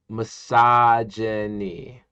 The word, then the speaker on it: misogyny: My friend, is pronounced misogyny.